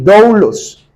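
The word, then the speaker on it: δοῦλος: término esclavos viene de la palabra griega dlos creo que se pronuncia así doulos y doulos implica una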